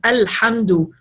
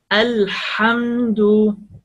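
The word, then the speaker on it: الحمد: Just make a lot pushing ear when you pronounce the letter ha, come from throat, a lot of pushing the air, a lot of pushing the air, come from throat.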